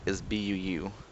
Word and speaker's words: Buu: Japanese his name is Buu so it's like a longer like boo but thing the translation